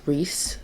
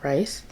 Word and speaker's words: Rhys: first of all i've been saying his name wrong it's rhys not rice who would have thought